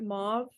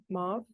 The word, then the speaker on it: mauve: like maybe like a is it mob or Mo mauve I think I think it's move technically but like everybody pronounces